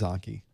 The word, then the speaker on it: Anki: true uh it's Anki so it is Anki thank you soft a it's not Anki Anki